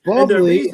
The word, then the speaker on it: Bublé: So yeah, but Bublé is spelled Buble. Yes, bubbly.